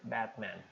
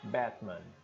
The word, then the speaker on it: Batman: Então seria Batman né o americano diria Batman o britânico su avisaria a segunda sílaba faria mais glotal só a primeira Batman tá então são variações